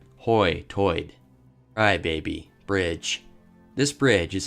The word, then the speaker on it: Hoi Toider: It gets its name from the way people pronounce phrases like high tide, like hoy-toid.